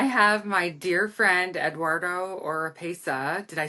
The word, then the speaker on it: Oropeza: little nervous I have my dear friend Eduardo or PESA did I say it right you said it